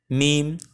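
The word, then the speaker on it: م: রাখার জন্য এবার আসি মিম কোথা থেকে উচ্চারণ হয় সেটি দেখতে মিম উচ্চারণ হয় দুই ঠোঁটের শুকনা অংশ অংশ থেকে অথবা দুই ঠোঁটের বাহির অংশ থেকে তো বেসিক্যালি ভেতরের অংশ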